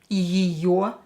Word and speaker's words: ее: And как ее зовут? Как ее зовут? Вот. Here, your is always stressed in a word. So this ye will be pronounced as e because it's not stressed.